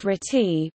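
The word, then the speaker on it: RTTY: as radio teletype or our TTY pronounced treaty was also common especially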